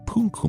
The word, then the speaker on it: Punku: Also, it's Punku Maicha, with Punku being her name, and Maicha meaning little girl.